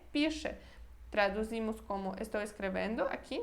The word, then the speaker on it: piszę: Olha, eu pronuncio piszę, né? Quando está no final de uma palavra, às vezes a gente nem pronuncia ele. Ao invés de falar piszę, que seria hiper correto, muito correto, a gente fala só piszę, tá bom?